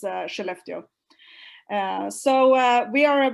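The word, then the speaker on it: Skellefteå: it's uh how it's how you pronounce it it's it's almost like she left you that is actually how you pronounce uh cheleftio so uh we are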